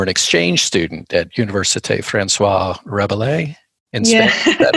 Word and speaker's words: François Rabelais: Okay, so what's the actual then appropriately pronounced name of the university that I just butchered, where you were an exchange student? So it's François Rabelais.